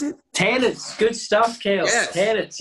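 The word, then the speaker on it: Tennent's: Isn't it in Scotland, the popular beer there, is it Tennements? Is that how you pronounce it? Tennents.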